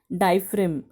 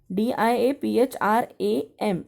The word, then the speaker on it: diaphragm: will you pronounce it diaphram g is silent over here but when you write you have to write a g example you will write